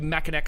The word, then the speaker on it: Mackinac: right I thought money was supposed to be Mackinac Island you're right you're right and that didn't